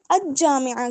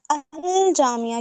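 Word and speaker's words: الجامعة: तो आपने बना दिया लेकिन आपने अ जामिया क्यों नहीं पढ़ा? अल जामिया क्यों पढ़ा? यानी लाम को प्रोनाउंस क्यों किया? हुफ कमरी में से आ रहा है।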